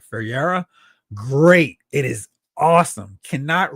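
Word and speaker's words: Ferreyra: I think I'm supposed to pronounce his name like Ferreira.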